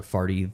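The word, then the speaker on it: Pharty: I got the I got one of their mascots was uh uh the party animals is Farty the Farty the monkey. And it's spelled P H A R T Y.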